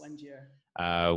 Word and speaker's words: Wanjira: So today, Wanjira, am I pronouncing it correctly, Wanjira? Yes, Wanjira.